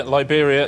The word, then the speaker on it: Liberia: points richard liberia yeah liberia it rhymes with siberia and it's also a